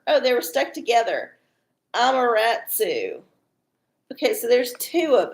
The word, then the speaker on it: Amaterasu: Amaterasu. Sorry, I totally just mispronounced. Amaterasu. It's like tiramisu, but it's Amaterasu.